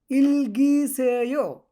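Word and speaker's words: 읽으세요: ওকে, তারপর লেখা আছে ইলগিসেও ইলগিসেও। আপনারা এভাবে উচ্চারণ করতে পারেন ইলগুসেও, সেটাও হবে। ইলগুসেও ইলগিসেও সমস্যা নাই, দুটাই সঠিক।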